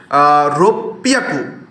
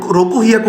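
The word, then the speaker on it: ろっぴゃく: এখানে হচ্ছে আপনার হবে রোপিয়াকু, এখানে রোকু হিয়াকু হওয়ার কথা ছিল, তাই না? 6কে বলা হয় রোকু, বাট আমরা রোকু বলবো না, বলবো এটাকে রোপিয়াকু।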